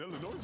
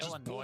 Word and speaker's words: Illinois: Yes, number one, they just trucked Ohio State and Illinois and about to truck Michigan this week. So yes, just Illinois.